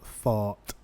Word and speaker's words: thought: They look quite similar in the spelling and the GH before the T, and you don't pronounce the G and the H. Guys, though, thought, and tough.